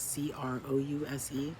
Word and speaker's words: Crouse: It's Crouse, kind of like the animal grouse, the bird, but with a C.